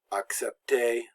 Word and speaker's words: accepter: So words that end in a, now the r is always silent in verbs like admirer, accepter. When a verb ends in er, the r is always silent and the e makes the a sound.